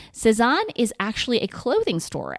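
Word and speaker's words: Sézane: It's called Lesan, and it's a perfume by the company Sesan, which is spelled S E Z A N E. Sison is actually a clothing store and it sells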